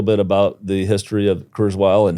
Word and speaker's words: Kurzweil: Am I pronouncing it? Is it Kurzweil? Kurzweil, yes.